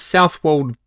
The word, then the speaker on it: Southwold: totally good this week we'll be reviewing adnan's south walled bitter is that how that's right how i